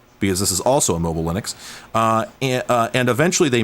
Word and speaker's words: Linux: name is lenux thals and I pronounce it Linux uh so it's got It's Linux it's just Linux we're running X we're